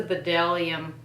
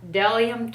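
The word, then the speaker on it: Bdellium: doesn't have any smell this is a bedellium a de i'm sorry i'm so used to saying it wrong to be funny that i can't say it right bellium tools 942 brush it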